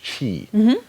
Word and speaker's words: Qi: see this is a Qi is the the name of it apparently that's pronounced Chi so uh what this